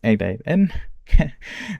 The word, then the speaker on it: n8n: I am today going to be presenting about my self-learned topic uh which is N8N it's pronounced N8N which is a workflow automation tool that has